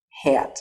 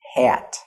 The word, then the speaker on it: hat: the word hat okay like move het hat not hot but hat okay next we have the